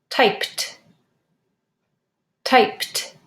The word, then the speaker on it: typed: the past tense of type Ed because it ends with a voiceless sound typed typed say the past tense